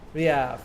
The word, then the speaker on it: Riaf: How do we pronounce it? Ruff? Riff? Ruff? Riaf? Riaf. Thank you. Like Rial, but with an F.